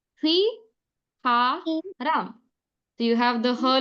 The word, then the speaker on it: 휘파람: Then second word we got was whistle, and like sir explained, the first way to pronounce it is Hui Ha Ram.